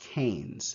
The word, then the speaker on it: Keynes: name is keynes just just know that it's pronounced keynes okay so keynesian economics just literally means mixed